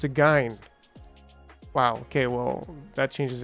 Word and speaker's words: Gyne: the is it soft is it a soft G it's a hard G so it's a gy wow okay well that